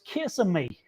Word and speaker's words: Kissimmee: they went through this town, and it said, Kissimmee, and Mama said, that's an interesting name. How you say that? And the daughter says, no, Mama, it's an Indian name, so it's Kissimmee.